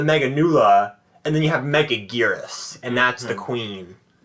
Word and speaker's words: Megaguirus: Megagyrus. Oh, you gave me... What? Don't ever pronounce that again. Megagyrus? Megagyrus? How do you say it? Megaguirus. It's like Anguirus.